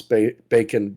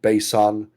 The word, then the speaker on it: bacon: We put this in because we had some people get a little creative, like they would pronounce bacon bason, and other fixes like Duffy.